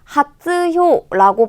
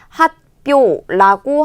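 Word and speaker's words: 発表: 그런데 여러분 하츠효라고 발음을 하는 게 아니라 우리 뭐라고 발음을 하게 되냐면 하츠의 츠를 작은 쯔 초금으로 바꾸고 표의 히에 타금을 붙여서 반타금을 붙여서 핫뼈라고 하게 되는 발음으로 바뀌는 거 요런 것들을 잘 알아야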